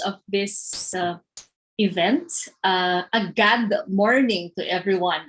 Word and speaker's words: GAD: this event uh a god warning to everyone as they say god which is spelled as gad and stands for gender